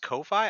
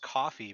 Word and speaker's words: Ko-fi: Is it pronounced Ko-Fi? I thought it was pronounced coffee because it's like they're giving you a Oh, coffee.